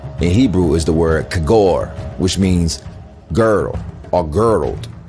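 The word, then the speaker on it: khagore: Kagor. Pronunciation, kagor.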